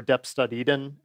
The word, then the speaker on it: deps.edn: put a file called deps.edn or deps.eden as we pronounce it, in a directory, and Clojure will look for that file when you type CLJ and you can configure it.